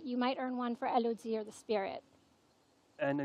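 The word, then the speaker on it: Élodie: table, Elodie. that's right. that's the correct way to pronounce So it.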